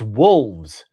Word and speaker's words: wolves: It's wolves. There's an L.